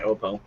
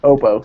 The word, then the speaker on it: Oppo: okay basically what is I've been mispronouncing their that name for uh months and months Oppo sorry it's the long up front Keith had some friends